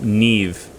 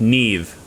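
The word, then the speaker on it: Niamh: my brother's new girlfriend is named name it's pronounced neve n n-i-a-h-m pronounced neve oh good god i i i have no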